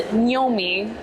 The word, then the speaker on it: gnomi: gnomi a lot, and they pronounce the GN as gnomi. Like gnocchi.